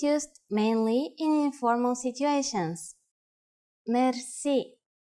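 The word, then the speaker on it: мерси: which word that is Mery Mery Mery is a long word word from French but it is pronounced with the typical Bulgarian hard r r it is used mainly in informal situations Mery how do you answer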